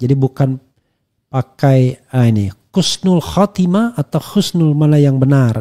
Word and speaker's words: husnul khatimah: Namun banyak yang masih bingung mengenai penulisan pengucapan kata yang benar ee sebenarnya dan pengucapan yang tepat adalah husnul khatimah. Bukan khususnul khatimah ya.